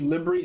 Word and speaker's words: LBRY: So Odyssey is just a front end for a system called Libry. It's spelled LBRY, and Libry has its own like crypto token or something.